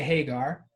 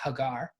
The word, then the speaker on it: Hagar: girl whose name was so we usually say Hagar um the person who's helping me pronounce he Hebrew has reminded me it should be pronounced Hagar so for what it's worth and Sarah I